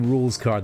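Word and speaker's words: Rouxls Kaard: Yeah, I'm fairly certain he his name is basically rules card. The X is silent.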